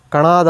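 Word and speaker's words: ಕಣಾದ: ಅವರು ಇಂಗ್ಲಿಷ್ ಅಲ್ಲಿ ಓದಿದಾಗ ಅವರು ಕನ್ನಡ ಅಂತ ಹೇಳಿ ಉಚ್ಚಾರಣೆ ಮಾಡ್ತಾರೆ ಅದು ತಪ್ಪು ಅದು ಕನ್ನಡ ಅಲ್ಲ ಕನ್ನಡನು ಅಲ್ಲ ಕಣದ ಅಂತ ಅಂತ ಕಣ ಅಂತಅಂದ್ರೆ ಅಣು ಅಂತ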